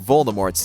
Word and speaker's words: Voldemort: method you know keep it simple stupid the pronunciation of voldemort's name there's nothing more embarrassing than realizing you've